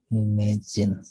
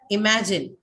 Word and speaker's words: imagine: now tell me where does the stress fall on this imagine imagine and how many syllables how many syllables three three two three three three levels three right so the stresses on what which syllable where do verbs take this second one right verbs take the stress on second one so the second syllable is the one that is stressed totally you have three syllables in imagine and the stresses on the second one so he imagine imagine